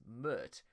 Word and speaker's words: Pmurt: which chris says that trump's spell backwards is mert which rhymes with hurt and that trump would